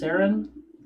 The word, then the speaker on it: Saren: Is it Saren? Yeah. Saren 37 just donated 2,000 bits for a greater healing potion for everyone.